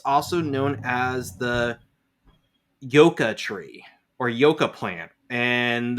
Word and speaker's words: yuca: y-u-c-c-a is a flowering plant why UCA is pronounced yoka but the Yucca one is pronounced yolk ah